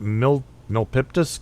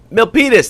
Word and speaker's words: Milpitas: on the 15th in what how do you pronounce that milk nopiptus california milpitas that's where i am right now milpitas california